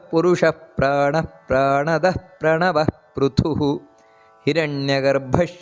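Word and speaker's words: ಹಿರಣ್ಯಗರ್ಭ: ನಾವು ಹೇಳಬೇಕಾದದ್ದು ಅದೇ ರೀತಿ ಹಿರಣ್ಯ ಗರ್ಭ ನೋಡಿ ಭಾ ಅನ್ನೋದು ಮಹಾಪ್ರಾಣ ಹಿರಣ್ಯ ಗರ್ಭ ಅದೇ ರೀತಿ ಶತ್ರುಘ್ನೋ ಶತ್ರುಘ್ನೋ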